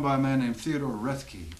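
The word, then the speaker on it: Roethke: Dirty Dinky, that's a poem by a man named Theodore Rethke. I think that's how you pronounce it, R-O-E-T-H-K-E. I've never heard that pronounced. Just seen it in print.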